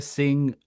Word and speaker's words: Singh: Singh.